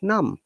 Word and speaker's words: numb: yeah short time and we call it num but when you're pronouncing number we must pronounce b okay okay the reason is that there is a vowel sound after that okay okay so in